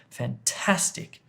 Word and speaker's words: fantastic: Well, it's fantastic, fantastic, fantastic. You hit the middle of the word with the emphasis, with stress. The word stress is here. Fantastic.